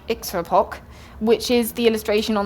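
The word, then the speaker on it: iktsuarpok: was in the list there's an Inuit word pronounced hopefully something like extra POC which is the illustration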